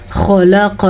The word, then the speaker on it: خلق: خلق لکم ما فی الارض، خو کو پر پڑھنا ہے.